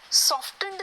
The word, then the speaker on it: softened: SOFT सॉफ्ट, हाँ ट आ रहा है, लेकिन जैसे SOFT के आगे कहानी चली जाती है ना, T साइलेंट हो जाता है। SOFTENED, सॉफ्टनड नहीं है या सॉफ्टनर नहीं है, सॉफ्टनड, सॉफ्टनर, सॉफ्टनिंग, तो बस इतना याद रखना, SOFT के बाद जब कहानी आगे बढ़ जाएगी तो T हो जाएगा साइलेंट, आवाज